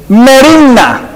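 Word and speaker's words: μέριμνα: En griego no se las puedo pronunciar, porque saber cómo se pronuncia, pero más o menos así: merimna.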